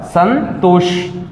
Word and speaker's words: Santosh: This is sa and this is sha. Both the words come. Both the words come. Yes, both the sounds. Yes, both the sounds come. Sa, sha, Santosh, Santosh, and it is not sha, it is sha, but the pronunciation is similar.